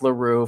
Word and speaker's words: L'Heureux: We all know Zach LaRue. Finally got that pronunciation down for y'all.